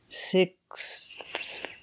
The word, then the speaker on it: sixth: six you have and you have to pronounce all those sounds sixth sixth sixth seventh eighth